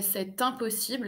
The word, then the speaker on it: c'est impossible: Même, je dirais même c'est impossible. Alors attention, mais c'est impossible, c'est parce que je fais la liaison entre le T du c'est et le I de impossible, hein.